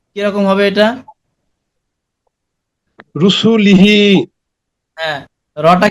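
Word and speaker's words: رَسُولِهِ: র পেশ রু। রপেশু হ্যাঁ, সিন পেশু সি লাম জের লি হা জের হি। কি হয়? রসুলিহি হ্যাঁ, এখানে এই যে হিতে কি নিয়ম পাওয়া গেছে বলতে পারবেন?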